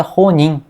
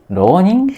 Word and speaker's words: ronin: ouvi uma palavra chamada ronim, não é? Ronim. Ronin. Ah, é. É, escreve com R, mas o R sempre se pronuncia como se fosse um R intervocálico, né? Arara.